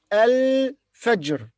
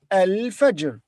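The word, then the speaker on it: الفجر: alone it will say al fajr al fajr but when we connect the two words the ta buddha will be pronounced as te not hai and the alif in al fajr will be silent so it will be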